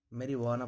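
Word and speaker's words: marijuana: अगला है जे कब साइलेंट रहता है, दो ऐसे वर्ड हैं जिसमें जे साइलेंट रहता है। मेरीवाना पढ़ा जाता है, जे का उच्चारण नहीं होता है।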